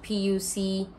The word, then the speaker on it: Puchong: puchong which is spelled p-u-c-h-o-n-g oh my god i don't know the spelling but it is pronounced as puchong but this is poi